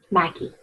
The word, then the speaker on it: Mackey: Mackie. M A C K E Y. M Mikey pronounced it.